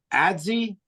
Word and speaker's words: adze: edge, as with a adze, I don't even know how to pronounce that, and a chisel edge as the head. Just ads, I think. Adze, thank you.